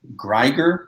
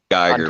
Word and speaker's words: Geiger: Okay, now we got Greiger. That's how I've been pronouncing it. I'm not the greatest at pronouncing things, but I've been calling it Greiger number 1, second when print. there's not even an R.